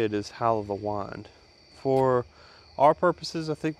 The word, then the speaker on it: Hal O' The Wynd: So today we'll be reviewing Rattray's Hal O The Wynd, or Wynd. I've always heard the two different distinct titles. I think if you're an American, it's easier to say Hal O The Wynd.